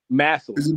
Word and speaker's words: Massillon: Massillon. Massillon is how you. Massillon is how you pronounce it.